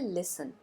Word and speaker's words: listen: V1 form यानी present form होता है लिसन।